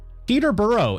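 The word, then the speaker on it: Peterborough: just say everything fast Peter burough is what it should be said but it's Peter burough and then you say Edinburough but that one is spelled a little bit different and then what was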